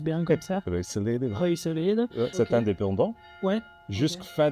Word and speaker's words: Ruiselede: Et alors, est-ce que tu peux expliquer un peu, ici on se situe à Ruiselede, ça se prononce bien comme ça? Ruiselede.